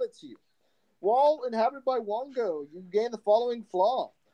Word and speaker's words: Wongo: W-O-N-G-O. See? Okay. Think Wongo, Wango, the but with an O.